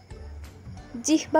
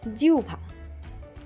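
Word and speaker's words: জিহ্বা: গভীর গউঘর দেখা গেল জিহবা উচ্চারণ করে থাকেন উচ্চারণ হবে জিউভা গরম চাখে তার জিউভা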